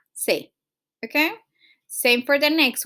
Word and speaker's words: clase: Then the next word ends in a vowel, okay? So you go ahead and put the natural stress or the stress in the next to the last syllable. So in this case will be cla. Okay, so we clase.